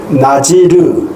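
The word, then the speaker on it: נזיר: 하나님께서 아이 못 낳는 이 부부에게 비로소 생명을 주시되 태중에서부터 나실인, 히브리 말 발음을 그대로 표현하면 나지르, 사람으로 구별하겠다는 말씀입니다.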